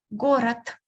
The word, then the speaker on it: город: Город. Город. So you can hear me pronouncing t instead of d because it is the last letter.